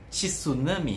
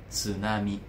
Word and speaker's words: tsunami: Repórter falando tsunami hum escrevemos quando escreve e t ess u para nós é t t t não é T é T inclusive meu nome né Mi não é é perfeito mesma coisa tsunami não é tsunami é tsunami são três letras certo Acho que acontece